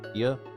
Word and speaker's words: Thea: So the character's name is Thea Queen, and it's pronounced like Thea.